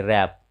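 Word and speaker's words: wrap: जैसे यहाँ देखिए रैप, इसे वरैप पढ़ना गलत है, वरैप मतलब, रैप मतलब लपेटना है।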